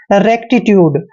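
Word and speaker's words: rectitude: डीई को डे पढ़ते हैं यानी कि ट्यूड रेक्टीट्यूड रेक्टीट्यूड होता है इंसाफ रेक्टीट्यूड इंसाफ रेक्टीट्यूड इंसाफ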